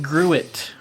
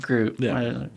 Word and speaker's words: gruit: it would be it not like it learns like grew it but it's pronounced group it probably could have